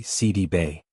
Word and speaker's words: Sidibe: She revealed that the accurate pronunciation of her last name is actually Si-dee-bay. This version reflects its Senegalese origins, a heritage tied to